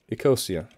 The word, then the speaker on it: Ecosia: Ecosia. Oh god, I'm pronouncing it really bad. Ecosia. There you go. Ecosia, it's like that.